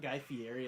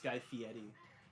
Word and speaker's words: Guy Fieri: It's not Guy Fieri, it's Guy Fieri. Is it? Yeah, that's how he says it.